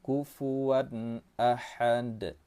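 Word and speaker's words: كُفُوًا أَحَد: Nah, di sini hati-hati, jangan ditahan. Ada juga orang yang membacanya kufuwan ahad. Hati-hati. Tanwin bertemu dengan alif itu termasuk dalam hukum tajwid izhar halqi. Cara bacanya jelas tanpa disertai dengan dengung.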